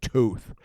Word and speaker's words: Toth: shows and it was Alex Toth or Tooth as I've heard it pronounced even though I find